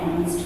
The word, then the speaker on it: honest: H remains silent and second letter हमारा vowel, इसलिए हम ए एन यूज करेंगे आवर एंड ऑनेस्ट के पहले.